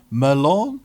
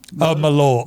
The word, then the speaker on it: Malort: And also he said to mention, I can't pronounce it right, it's a drink, Merlot? Malort. Malort, yeah.